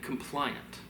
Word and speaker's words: compliant: Complaint, two syllables. Compliant, three.